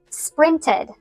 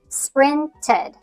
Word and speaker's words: sprinted: You could think of it like a short i sound plus a d or the schwa sound plus d. sprinted.